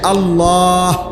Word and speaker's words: আল্লাহ: শেষে আল্লাহ শেষে একটা গোল হা আছে ছোট হা আল্লাহ মানে আল্লাহু তো